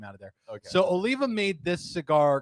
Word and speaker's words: Oliva: did I say it right yes I did Oliva this is from half whee where I get